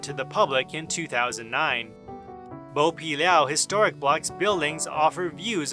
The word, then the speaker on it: 剝皮寮: North or to peel in Mandarin the word meaning to peel is pronounced bow and so over time Bo pilau Street became the common name in 2003 the city